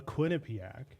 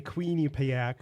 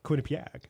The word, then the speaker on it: Quinnipiac: i went to the quinnipiac university of law is that how you pronounce it i think yeah not the queenie payack or quinnipiac right um they do a